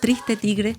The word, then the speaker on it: Triste tigre: Le agradecemos muchísimo haber estado con nosotros para este libro, que además se pronuncia en francés y en español igual, Triste Tigre, de Nesh Sino.